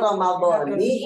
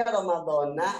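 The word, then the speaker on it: رمضانِ: Secara ilmu nahwu ya, yang betul Ramadhani hadhihi sanati. Ya, kita memang kebanyakan bacanya Ramadhana hadhihi sanati. Yang betul Ramadhani hadhihi sanati.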